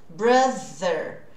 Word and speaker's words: brother: O muitas vezes tem som de br, brother, big brother. Essa seria a pronúncia correta, né?